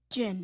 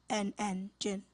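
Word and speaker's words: djinn: Jinn, am I saying it correctly? Yes, you are. Okay, jinn. D-J-I-N-N, jinn.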